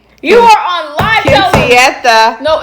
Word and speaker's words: quinceañera: You are on live Quinceañera.